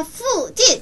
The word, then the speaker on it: 附近: 자, 근처는 이렇게 얘기하는데 후진. 후진. 후진. 후진. 후가 아니야. F 발음 넣어서 후진.